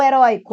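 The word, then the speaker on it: heroico: Qual a sílaba tônica de heróico? A sílaba tônica de heróico é essa daqui. Então, heróico tem acento? Não, porque é uma paroxítona com ditongo oi.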